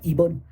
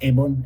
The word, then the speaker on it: Ebon: Which I pronounced wrong for the past 26 years. I've said Ebon. I've been playing this game for 26 fucking years, and I just asked the creator how you pronounced it, and he said it's Ebon, and I just went, oh, well, fuck it.